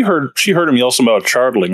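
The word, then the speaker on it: Chardalyn: I would bring up chardling, however that whatever he was saying up to Ursula. Magic awareness? Yes. Is it magic awareness? How it has it in the pronunciation guide. Chardolin.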